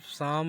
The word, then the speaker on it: Psalm: यहाँ पर पी और एल साइलेंट है, इसलिए इसको साम पढ़ा जाएगा।